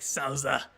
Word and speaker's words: Souther: But the Japanese and how they say it is like Souza, and that like sounds neat, but Souther does not.